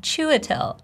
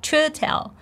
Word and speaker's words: Chiwetel: Can you pronounce it? I think you can. Chiwetel. Chiwetel.